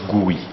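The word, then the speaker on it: GUI: on a monitor is the graphical user interface pronounced buoy the buoy is more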